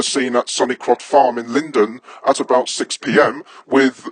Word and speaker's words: Lindores: And Ben, it's pronounced Lindores.